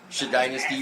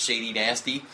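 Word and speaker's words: Shadynasty: try to say that right sh Dynasty dude Shady nasty Dynasty sh Dynasty for it's a it's a reference to oon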